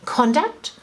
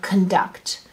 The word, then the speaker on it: conduct: be two different things it could be conduct or conduct so depending on the stress um it will be either a noun or a or in that case it's a it's a noun but i'm changing a noun into a verb typically so that's a present